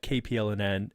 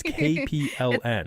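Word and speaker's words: KPLN: the inspiration behind uh kpl and n or oh my gosh i said it wrong again it's k p l n right k p and l think k paranormal there you know that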